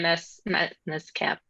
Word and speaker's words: MSCAPP: What advice would you give for someone considering an MPP or an MS-CAP? How do you pronounce that? Do you just say that as the MSCAPP? Just CAP, MS CAP.